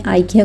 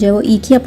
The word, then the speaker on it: IKEA: One more thing before I proceed that in Germany, Ikea is called EKEA, because the pronunciation of e and i is interchangeable.